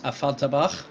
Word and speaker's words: Affalterbach: So it's going to be Mercedes versus Porsche, Weissach versus Affalterbach, and that is the correct German pronunciation, hence the German introduction earlier on this afternoon.